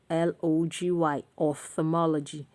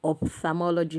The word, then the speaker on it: ophthalmology: Next on saying it right is ophthalmology, ophthalmology, ophthalmology, ophthalmology. I don't know where we get the ophthalmology from. Ophthalmology, that is the common thing we say, but it is ophthalmology.